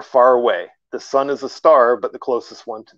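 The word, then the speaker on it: Sagittarius A*: A massive black hole known as Sagittarius A, pronounced A star, lurks at our galaxy's center.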